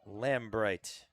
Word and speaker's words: Lambright: Brylan Lambright. Just like it's written. Foul ball. It's a good play over there by coach Templeton. And this ball well inside Lambright.